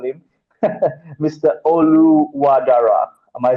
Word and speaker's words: Oluwadara: Oluwadara.